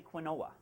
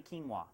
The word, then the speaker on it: quinoa: Now quinoa is a funny one because it's never pronounced the way it's spelled. We all want to say quinoa, but it's actually quinoa.